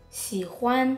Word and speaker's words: 喜欢: 喜 sounds like she. 欢 sounds like who and an being blended together. 喜欢喜欢喜欢喜欢喜欢 Caleb, 我喜欢你 I like you too.